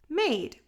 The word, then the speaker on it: made: So the A is going to say its name and the E is silent. A-d. Made.